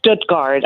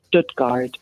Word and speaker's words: Stuttgart: It's it's Stutgard. I mean, I'm from the area. That's how we pronounce it. Stoodgard, but most people say Stogard.